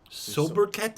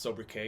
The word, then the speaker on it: sobriquet: uh mehmed the conqueror sober cat sobriquet i think it's actually pronounced sober k because it's french s-o-b-r-i-q-u-e-t i think it's over k i'll look it up